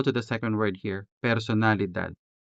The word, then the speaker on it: personalidad: Now let's go to the second word here, personalidad, personalidad. The letter E in personalidad could be sounded with the original E vowel, or it could be replaced with the native Hiligaynon E.